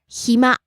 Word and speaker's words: 暇: 夜 Next, 暇 free time. 暇暇 Starts low, ends high.